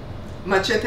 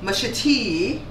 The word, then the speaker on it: machete: eat the entire confection this machete is the spanish pronunciation the english british english they say mashiti and then american english say machete it's like a d on it machete but belizeans say what mashita that's what we say and the thing that